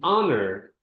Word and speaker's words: honor: And honor. Honor it's silent. So the first sound that we hear when we pronounce this word is the letter O which is a vowel.